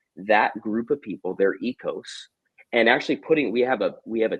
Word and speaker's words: oikos: on the word, and they came to the conclusion that it's actually pronounced ecos. If you were a Greek speaker, so what we refer to as ecos are the 8 to